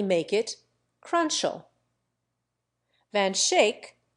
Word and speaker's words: Schaick: it crunch oh man shake an old New York name is pronounced Van Schaick a good many American